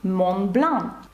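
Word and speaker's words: Mont Blanc: гарне прізвище згадаємо географію і найвищу точку Франції мобн пишеться Монблан Ось так і зараз вам зрозуміліше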